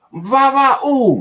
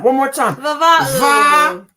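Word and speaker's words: Vava'u: If you do a Google search, look up Vava-oo. Yes, let's spell it. One more time. Vava-oo. Va-ooh. And it's spelled V-A apostrophe.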